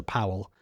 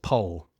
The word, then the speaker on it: Powell: It's spelled P O W E L. So Powell, but they pronounce it Paul.